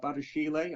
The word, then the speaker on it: Badiashile: Again, I'm probably going to butcher this, but Benoit Badiashile, I think it's pronounced, at Monaco, a left-sided centre-back, which, what would make more sense when you've bought Koulibaly.